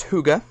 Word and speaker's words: Hygge: know the specifications redart Huga h g g e it is one of the European languages Swedish Norwegian something like that um but it's pronounced Huga and the ball one